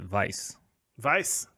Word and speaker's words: Weiser: i don't see it that way because i pronounce it vice verse yes well yeah yeah not that i'm really